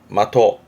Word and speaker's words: 的: 훈독은 마토. 그러면서 기본 뜻이었던 표적, 대상, 내지는 핵심, 요점. 그러면서 뒤에다가 붙이면 발음은 마토하즈레.